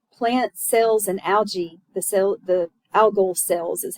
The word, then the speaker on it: algal: Plant cells and algae, the algal cells is how you say that, they carry out photosynthesis in organelles called chloroplast.